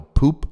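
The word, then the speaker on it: Pupp: The 2006 James Bond reboot Casino Royale was mainly filmed here, including the huge Grand Hotel Poop, which is spelled P-U-P-P, and also in the super pretty nearby town of Loket, which means elbow.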